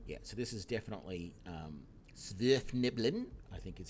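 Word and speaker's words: Svirfneblin: Yeah, so this is definitely Svirfniblin, I think is how you probably pronounce it, or Deep Gnomes, because they call their leaders Barrow Wardens.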